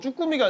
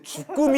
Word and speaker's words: 주꾸미: 쭈꾸미가 아니라 죽꿈입니다.